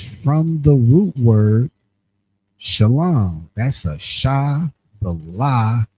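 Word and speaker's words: שלום: The transliteration is that salom salom which is pronounced sha lom which you see was kind of like that second one they added the vow you go down.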